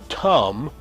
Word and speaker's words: Tum: Thumb is usually pronounced Tum in the ancient Egyptian language. And that was Ramsay's false god that he worshiped. Tum, the son god.